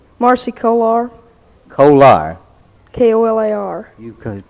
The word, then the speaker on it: Kolar: your name marcy kolar colar k-o-l-a-r you could pronounce e-coli uh most people call you kohler don't they but you like the coal iron huh uh marcy um what